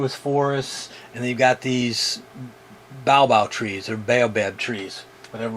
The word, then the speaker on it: baobab: these over in the u.s you know we pronounce these as baobab b-a-o-b-a-b in malagasy they might call it baobao so you'll hear either one but it's the